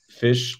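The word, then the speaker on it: Phish: one's for the hoodie favorite mushroom strain plus Fish song pairing and I'm am I pronouncing that right p-h-i-s-h song okay yeah yeah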